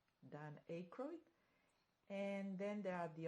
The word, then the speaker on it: Aykroyd: She's married to this actor Dan, I think it's called or pronounced Aykroyd, Dan Aykroyd, and then there are the other actors Rupert Everett and Jonathan Pryce.